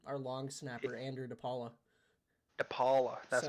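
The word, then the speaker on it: DePaola: we have um our Long Snapper Andrew deala depala that's how you say it six I think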